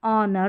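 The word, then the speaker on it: honour: तो यहां पर एच जो है ये साइलेंट है इन सारे स्पेलिंग्स में। किस-किस में? आवर, ऑनेस्ट, ऑनर और एयर में।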